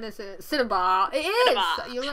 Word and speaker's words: cinnabar: Cinnabar. You're right. That's how it's pronounced.